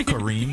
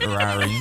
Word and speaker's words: Kareem: So let me just say that my name is Kareem, not Rarim, but Storm has.